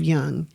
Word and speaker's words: Jung: But I am more a proponent of Jung.